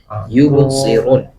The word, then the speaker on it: يبصرون: Namun perlu PR-nya adalah bo ya, huruf bo, ditebalkan, bo, kemudian yubsirun, si, ya. Nah, kalau kemarin kita sudah mempelajari cara membedakan sod ya dan sa ya, sin itu adalah dalam pengucapan di bibirnya ya. Kalau sa, si, su, bas biasa. Tapi kalau so ada penebalan ya. Jadi tempat keluarnya sama, hanya saja ditebalkan sedikit, itu jadi so ya.